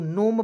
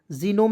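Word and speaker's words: gnome: देखिए यहां पे जी एन ओ एमई तो नोम पढ़ा जाएगा एन ओ से नो लिख दीजिएगा एम से लिख दीजिएगा मनोम नोम पढ़ेंगे जिनोम नहीं पढ़ेंगे नोम पढ़ा जाएगा ठीक है इसका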